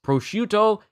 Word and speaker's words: prosciutto: But it's prosciutto and meat. Prosciutto, and melon. So it was prosciutto that Sanji was saying earlier.